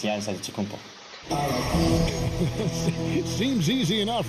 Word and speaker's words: Antetokounmpo: a D, so it's Antetokounmpo. But in the Greek way, you say with the NT, like Antetokounmpo. Whatever you got, just say, it's Giannis Antetokounmpo.